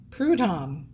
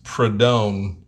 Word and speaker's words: Prudhomme: tom the mongoose mcewen did you say prudhon prudom it's prodone oh i'm just pronouncing